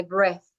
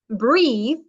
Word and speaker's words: breathe: so I breathe yes if you look at the words they are very similar yes but here there is a e and the pronunciation is different yes you if you